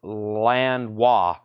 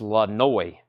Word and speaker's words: Lanois: Pronounced Lanois. Pronounced Lanois. Daniel Lanois.